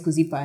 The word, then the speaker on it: Kuzipa: And, my name is Kuzipa. And they were like, what's your name? Kuzipa.